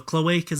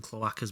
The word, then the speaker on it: cloaca: Oh, this says you can pronounce it both ways. So cloaca's American, cloaca's British, but they're both correct.